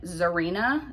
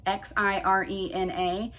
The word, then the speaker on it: Xirena: Next up is, I think you pronounce this brand Zarina. It's Xirena.